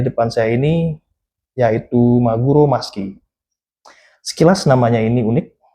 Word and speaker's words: Musky: saya ini yaitu Maguro Maski. Sekilas namanya ini unik tulisannya MU SKY dibacanya maski.